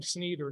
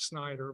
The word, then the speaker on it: Snyder: So I think and I call him Sneeder, not Snyder, but Al Sneeder. Oh, is that is how we pronounce his name?